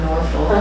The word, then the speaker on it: Norfolk: Notice I said Norfolk and not Norfolk, because it's pronounced Norfolk.